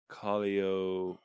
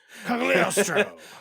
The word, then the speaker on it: Cagliostro: Because the G was silent, I believe. Cogliostro. Cagliostro. Oh, was the G not silent? Yeah, it's not silent. No silent G? Cagliostro.